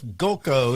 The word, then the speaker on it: Golko: Jeff Golko, is that how you say it? Or how do you say it, Jeff? That is exactly right. You are right.